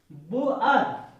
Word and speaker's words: boor: Double O का उच्चारण आ रहा है, और बुअर, बुअर इसका उच्चारण आ रहा है, ऊ आ का उच्चारण आ रहा है।